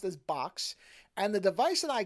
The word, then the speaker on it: Boox: the company that apparently you're supposed to pronounce as the word box even though it's spelled with two o's so the company name